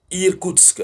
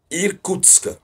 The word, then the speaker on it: Irkoutsk: Nous avons la région qu'on appelle Irkoutsk. Voilà. C'est difficile de prononcer. Irkoutsk. C'est pas Kursk, hein. Irkoutsk.